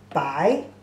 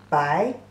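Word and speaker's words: 白: The pronunciation is also very close. Bai is the second tone and bai is the third tone.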